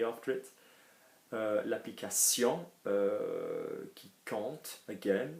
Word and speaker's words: compte: L'application qui compte, again, we don't pronounce the P, the T, anything like temps, like anything, we just pronounce the first three, quand.